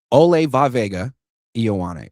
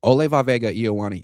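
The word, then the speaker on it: Olaivavega Ioane: It's like a 5-syllable first name. I just call him Vega, but it's Ole Vavega Ioane. Ole Vavega Ioane, 6'4", 320 pounds, 33-inch arms.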